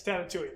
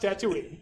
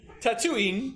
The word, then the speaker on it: Tatooine: So it's pronounced Tatooine. Tatooine. Tatooine. Tatooine. Tatooine. Yep. Like I'm going to give you a tattoo, therefore I am tattooing you.